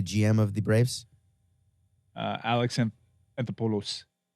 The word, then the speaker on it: Alex Anthopoulos: what is it it's alexanthopolis yeah that sounds better as in the acropolis which also happens to be in greece yeah all right how